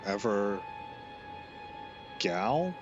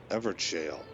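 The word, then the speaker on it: Evergaol: Ever jail. Because there's a I used to pronounce that with a hard G.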